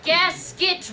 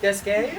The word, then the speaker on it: Gasquet: I have gasket written here. It's actually pronounced gasquet.